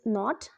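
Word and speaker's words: knot: Next is नॉट, nothing. इसको NOT की तरह ही प्रोनाउंस करेंगे. प्रोनाउंसिएशन इसकी डिफरेंट नहीं है और मीनिंग भी सेम ही है, लेकिन स्पेलिंग में डिफरेंस है.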